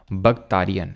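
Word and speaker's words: Bactria: को भक्तान बोलते हैं बगताय बी ए बैक्टीरिया नहीं पढ़ना उसको ठीक है बैक्टीरियसिंस करो उसको प्रोनाउंस करने के लिए नहीं आएगा तो इसको हम बगताय बोलते हैं किंगडम अब यहां पर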